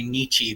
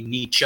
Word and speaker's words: Nietzsche: that all the time i always say it with american slang americans say nietzsche but it's supposed to be nietzsche and i'm trying to